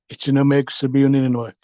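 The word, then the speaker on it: Kitchenuhmaykoosib Inninuwug: KI, we pronounce it as Ichinomeg Sabiunininoek.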